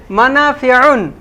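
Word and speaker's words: مَنَافِعُ: মানাফিউন। মাশাআল্লাহ, চমৎকার হয়েছে না? মানাফিউন, তবে টেনে বলা যাবে না, মানাফিউন না, মানাফিউন বলেন সবাই, মানাফিউন।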